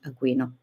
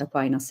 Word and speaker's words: Aquino: It's always strange to pronounce it in English because it's a very Italian philosopher, and Aquino is the place from where it comes. So we say the Aquino, not Aquinas, as if it's his last name.